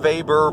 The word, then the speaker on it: Weber: So this guy Weber, it's pronounced Weber, but it's spelled W-E-B-E-R.